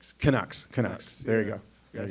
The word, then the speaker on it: Canucks: Yeah, they they How you pronounce it? The Canucks? Canucks.